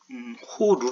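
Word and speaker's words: 掘る: 8 9 짜 인데요 호루 라고 발음을 하자 파다가 는 동사가 되는데요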